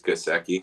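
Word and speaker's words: Gesicki: so first of all your pronunciation is right i just did look it up uh it is gaseki so sorry um mike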